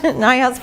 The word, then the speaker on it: Neuhaus: It's German, and there are 2 branches of the family who pronounce it differently, but we got lucky and got the Neuhaus branch, Neuhaus pronunciation.